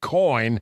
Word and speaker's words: COIGN: The G is silent when you say it, but it's in there.